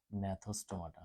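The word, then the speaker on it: Gnathostomata: ম্যাথোস্টমাটা হ্যা জি দিয়ে শুরু করি। জি সাইলেন্ট দেখো ম্যাথো স্টোমাটা।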